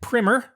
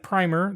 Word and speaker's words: primer: listening land a quick primer. And although it looks like primer, the proper way to pronounce it is primer.